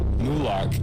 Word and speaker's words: Moloch: Mulak is another pronunciation for Moloch. Now we can see how Moloch and the owl at Bohemian Grove have uncanny similarities.